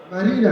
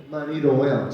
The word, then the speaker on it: Marie Noel: Marina. And how old are you? Marie Noel. Marie Noel. Did you hear that? I said her name wrong. She said Marie Noel.